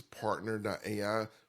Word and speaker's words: PRNTR.ai: So there's a lot there that we can help build for you customly, and that is partner.ai, which is spelled PRNTR.ai, partner, like shortened without any of the vowels.